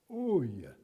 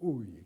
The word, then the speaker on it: Ui: Ui se prononce en allemand Ui. C'est Arturo Ui qu'il faut dire.